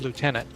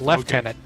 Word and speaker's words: lieutenant: you going to say Americans pronounce it as Lieutenant the UK and Canada pronoun as left tenant right tenant have you